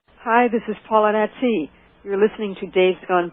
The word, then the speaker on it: Attie: It's Attie, as in at coffee.